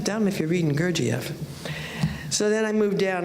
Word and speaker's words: Gurdjieff: Gurdjieff, excuse me. Gurdjieff, thank you.